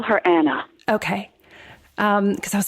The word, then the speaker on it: Anna: Do you pronounce it Anna or Anna? I wondered. I call her Anna.